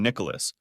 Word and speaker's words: Nicholas: To her, I've always been Nicholas, pronouncing all 3 syllables rather than blending in 2.